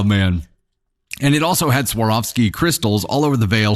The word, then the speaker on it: Swarovski: Swarovski? Pronounce the W.